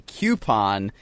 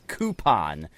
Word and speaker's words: coupon: trash when you say coupon, because the proper pronunciation is coupon, as coupon. Yeah, like because it's coup, like chicken coop, and when people say